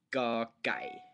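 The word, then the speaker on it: ก ไก่: First of all, first letter of the Thai alphabet, ga gai, ga gai. Try and say it once or twice. Ga gai. All right. Now this letter in Thailand is very often spelled with a K.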